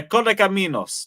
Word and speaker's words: Correcaminos: Correcaminos. Yeah, Correcaminos.